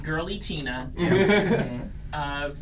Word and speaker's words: Giratina: I think well first let's set it straight it's actually pronounced girly Tina person whose voice it